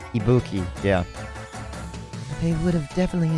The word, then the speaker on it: Ibuki: was I think I was saying that wrong Ibuki yeah they would have definitely enjoyed this